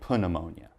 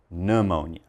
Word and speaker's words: pneumonia: But please, the help I can give you is don't say pneumonia. Just say pneumonia.